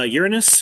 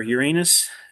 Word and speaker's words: Uranus: Uh, Uranus or Uranus. I've heard it's pronounced both ways.